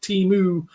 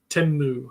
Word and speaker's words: Temu: new pronunciation of teu it's pronounced teu not timu well I don't know